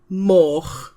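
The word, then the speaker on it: moch: Uh, a pig is a min and more than one would be mo.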